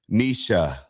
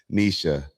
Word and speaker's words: Nietzsche: Nisha. And I'm glad that you put the pronunciation there as well. Nisha.